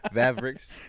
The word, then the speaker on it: Vavrix: is me so i don't really have i'm pronouncing it right yeah okay okay appreciate that mavericks yeah yeah like i said i chose my